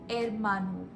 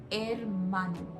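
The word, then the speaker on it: hermano: padre Padre brother Manu Manu the Ed is silent a Manu sister a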